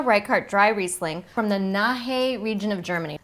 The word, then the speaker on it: Nahe: Emma Reichardt dry Riesling from the Nahe region of Germany. Na ha. N-A-H-E. You just don't really pronounce the e but you also don't not pronounce it.